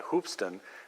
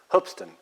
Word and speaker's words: Hoopeston: name when you look when you read it it looks like hoopeston but it's that's not really how it's pronounced is it that was pronounced hoopeston hopes t'en that's correct and and that's because the guys name was John hopes yep okay so I